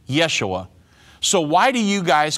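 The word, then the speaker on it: ישוע: the exact same word Yeshua is the Hebrew pronunciation and Jesus is the English pronunciation for example if a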